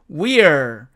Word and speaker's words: we're: we are를 줄이면은 we're 이렇게 된다는 건 우리가 알고 있죠. 자, 그런데 여기서도 보니까 E는 강하게 발음되고 어는 약하게 발음되다 보니까 이 어가 사라지고 we're 이 말만 남게 되는데, 자, 이 I가 또 약해지면 또 어가 됩니다. 자, 그래서 이것은 결국 were 이런 식으로 변화가 된다는 것입니다.